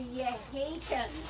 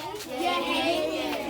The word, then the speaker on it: Yehaken: All right, so this building is called a Yehaken. Can you all say that word for me? Yehaken. It's spelled Y-E-H-A-K-E-N.